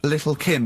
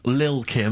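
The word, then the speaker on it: Lil' Kim: it's a track by Little Kim but how are you pronouncing it I'm pronouncing that correctly Lil Kim oh no T's involved and it's a jump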